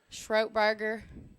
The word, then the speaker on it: Stroke Burger: to write it down stroke burger stroke like throat it rhymes stroked burger yup stroke